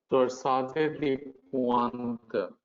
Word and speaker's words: torsades de pointes: Torsade de Pointe. So this is a French word. In French, you would call it torsade. S is silent because any last letter of any word becomes silent.